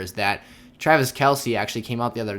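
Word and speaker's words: Kelce: this time i'm going to keep saying kelsey because i think that sounds way cooler and he said he goes by both names obviously well he actually said that kelsey uh he accepts as his nickname so weird little interesting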